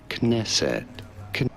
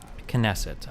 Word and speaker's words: Knesset: Kesset. Knesset.